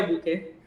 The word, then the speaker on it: Bucher: Aí então geralmente lá eles pronunciam booker, né? Escreve B U C H R, mas pronuncia Booker.